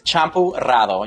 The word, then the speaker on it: Champurrado: And if you don't know how to say that, just think shampoo and change the sh to ch, and it's Champurrado. You gotta roll your R's though.